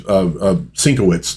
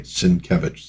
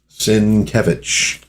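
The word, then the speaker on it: Sienkiewicz: And yeah, that's another one I had to learn to pronounce online cuz he was always sinowitz to me. And I still have to like Okay. Sinkevage. Sinkevage. Sinkevich, say it right, cuz you're making, you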